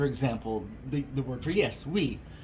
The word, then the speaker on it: oui: It's like when, in French, for example, the word for yes, oui, it's spelled O-U-I, even though to our English ears we would imagine that being spelled with a W.